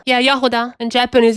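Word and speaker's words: Jahoda: I mean, she's supposed to be Eastern European, so maybe it's pronounced Yahoda. Yeah, Yahuda.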